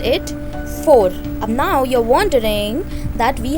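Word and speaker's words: vor: V is always pronounced as F, that's why it's 4.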